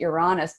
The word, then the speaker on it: Uranus: next is probably well I typically pronounce that you're honest but the next meeting is going to be you are Uranus so that is going